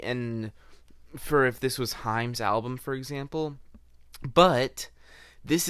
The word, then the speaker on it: Haim: And on the song So Bad, featuring, I believe it's pronounced Haim, this risk does not pay off whatsoever.